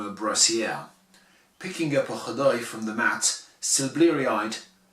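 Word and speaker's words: caday: D'autant que dans le texte, il y a un autre mot en Somalie qui s'écrit C-A-D-A-Y, j'y reviendrai, et qui lui se prononce Khadai.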